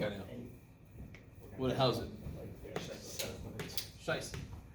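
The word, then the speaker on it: Scheiße: Scheisse. There's two S's there. One S is pronounced Z. Okay. Well, Scheisse.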